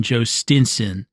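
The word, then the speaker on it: Jhostynxon: His name, if you have not seen it, is spelled J H O S T Y N X O N Joe Stinson.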